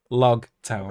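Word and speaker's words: Loguetown: Uh, often mistransated as rogue town because Japanese and L's and ours, but of and it's spelled like rogue, but no, it is log like prologue epilogue.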